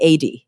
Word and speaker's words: Adee: so I don't screw it up later ad yes it's perfect yay I did it um